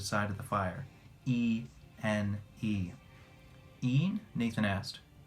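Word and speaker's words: Ene: Een? Nathan asked. The second E is silent, said Nkudabao for clarification.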